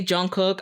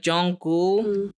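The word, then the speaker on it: Jungkook: pronounce his name because when I read it in English I say Jun cook I do especially if I'm speaking fast I know you're not supposed to say it like that it's like Jong goul so I could read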